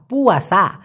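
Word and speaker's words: puasa: অনেকে রোজাকে বলে পসা, না পুয়াসা, বাতাল পুয়াসা মানে রোজাটা বাদ হয়ে গেছে, রিজেক্ট হয়ে গেছে, শেষ, ওই রোজা আর নাই।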